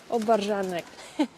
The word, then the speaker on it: obwarzanek: Obwarzanek.